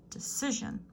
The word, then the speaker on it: decision: words in bold decision decision three syllable stress is on the middle syllable decision that's a Spanish cognate